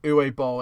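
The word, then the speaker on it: Uwe Boll: the name again um uwe ball it's pronounced uwe and then and then his surname is b-o-l no okay uh for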